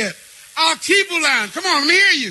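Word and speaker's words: Alkebulan: l a n Alan now let's say it aluan come on let me hear you that was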